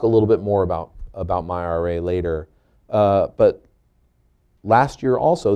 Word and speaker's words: MyRA: It's unclear whether he knows how to pronounce the acronym yet. There's a lot of confusion on that point, but I've got it right today. The basics are MyRA is a starter retirement